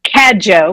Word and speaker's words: Cadieux: Did I pronounce that right? It's Cadieux, but that's close enough.